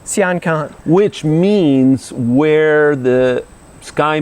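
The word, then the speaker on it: Sian Ka'an: Am I pronouncing that right? Sian Can. Sian Can.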